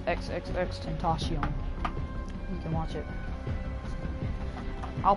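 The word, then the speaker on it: XXXTentacion: It's Tentacion. I looked up how to pronounce his name. He says Tentacion. He said XXX Tentacion. That's what he says, XXX Tentacion.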